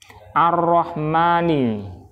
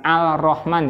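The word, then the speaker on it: الرحمن: Nah, kan bacanya bukan al-Rahman ya, tapi ar-Rahman, karena memang sifat hurufnya dia huruf syam, huruf syamsiyah.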